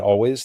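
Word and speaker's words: Alvvays: Yeah, they spell their name with two V's, but it's pronounced always.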